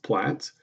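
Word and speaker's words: PLTZF: is the plaits and it is pronounced plats tells you in the standard how to say it the bottom one is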